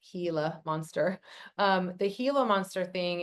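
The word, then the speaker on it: Gila monster: So, as far as the the the hila, it's actually pronounced hila monster.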